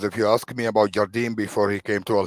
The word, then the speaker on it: Jardim: Did I get his yeah, name wrong? Jardim, yeah, Leonardo Jardim.